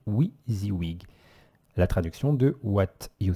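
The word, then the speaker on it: WYSIWYG: s IW y g donc prononcé oui the wig la traduction de what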